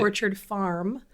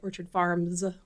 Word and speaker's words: Orchard Farm: Orchard Farm. Orchard Farm. Mm-hmm. Orchard Farm. On the TV news, they always say Orchard Farms, plural.